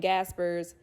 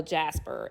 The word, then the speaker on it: Gasper: Fire under Brian and Gasper's uh I'm laughing because somebody in my last video was like there's no Jasper it's Gasper with a hard G okay I also mispronounced